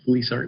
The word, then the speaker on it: FLISR: for us we are going to talk about fleecer basically the main target when we try to implement fleecer is this to improve reliability indices so with this brief introduction then we can go into what fleecer means uh again fleecer stands for fault location